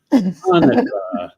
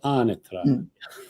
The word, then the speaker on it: Anatra: Yes, say it like an Italiano. Anatra. Let it flow. Anatra.